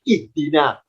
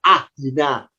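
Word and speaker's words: اهدنا: di sini ini ya Kenapa kita terbiasa bacanya ihdina kok Tidak ahdina kok tidak uhdina ya karena huruf ketiganya kasr karena dalnya kasr alifnya ikut kasr Maka kalau diharakati alifnya harakatnya kasr berbunyi ihdi ihdinatal mustaqim ihdi jadi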